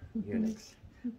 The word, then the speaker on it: eunuchs: the guy that was in charge of the eunuchs that's how you say it eunuchs um daniel proposed in his heart that he